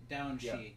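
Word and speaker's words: Daoine Sidhe: I don't know how to pronounce that. Oh, the Down. Down Shi.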